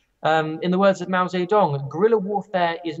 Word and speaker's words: Mao Zedong: military genius Mao Zedong I know I'm not pronouncing that correctly for some people we want to put that out there but that is the way that's the English pronounces in the words of